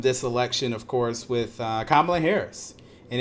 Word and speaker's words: Kamala: election, of course, with Kamala Harris. And it is Kamala, for those who keep saying her name wrong.